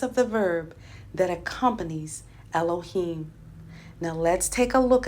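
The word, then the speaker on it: אלהים: to the plural form of alua which is pronounced Elohim it has two additional Hebrew letters added and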